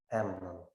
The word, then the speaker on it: Amnon: The next one is Amnon. Наступне Емнон, Амнон. Емнон. Наголос на першій букві. Емнон.